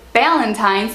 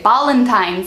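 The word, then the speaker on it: Ballantine's: So Ballantines is a type of whiskey, but they don't pronounce it Ballantines, they say Ballantines, and I had no idea what he was saying.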